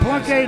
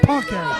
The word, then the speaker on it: Plunk: Oh, Plunk, not Punk.